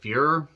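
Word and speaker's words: Feur: her character Mary uh it's f-e-u-r but they kind of say it like fear oh no their angering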